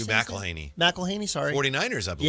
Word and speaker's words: McElhenny: That was Hugh McElhenny. Is that how you say it? McElhaney.